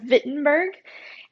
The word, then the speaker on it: Wittenberg: of wittenberg in germany now remember we're talking about germany so they pronounce their w's like these so he taught a scripture at the university of wittenberg and he was concerned